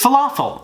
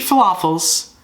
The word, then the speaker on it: falafel: above waffles nonetheless and here's falafel it rhymes with waffle before I knew what